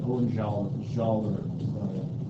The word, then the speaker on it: Hohenzollern: Is how I've been told to pronounce that, Hohenzollern.